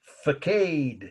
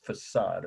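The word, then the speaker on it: façade: I have half my family Roots over there faade is how she would say this the right way to say it is facade of course f a c a d e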